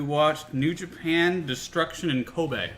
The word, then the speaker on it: Kobe: new Japan destruction in Ko Bay which is spelled like Kobe Bryant yeah and it was